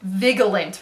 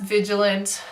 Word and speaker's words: vigilant: stupid and I realize it is in fact vigilant viggle ain't really I told my friend that and she laughed at me for a while yeah it's pronounced vigilant I'm sorry those are just